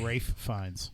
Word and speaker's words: Fiennes: named toby ray Fiennes oh I have an L in there maybe there isn't L he just doesn't pronounce it I'll forget that literally ray Fiennes I hate him with